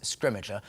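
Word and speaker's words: Scrimgeour: this film we have bill nye uh playing scrimmager who is fantastic there was we have kind of eventually reached consensus on how to say his name and we're going with scrimmager i think that's how we've ended up saying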